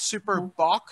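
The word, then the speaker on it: Super Bock: guinness it was called super bach have to be careful how you pronounce that s-u-p-e or b-o-k and it was this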